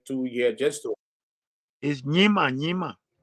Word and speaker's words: Nyima: is Nyima.